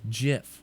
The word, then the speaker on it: GIF: as an image it's GIF it is GIF J if it's a gif no now you're changing your argument it's pronounced J if it's spelled g if that is how